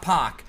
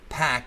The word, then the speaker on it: Pac: shockingly lost a pack not POC pack is how you pronounce his name I guess and that match was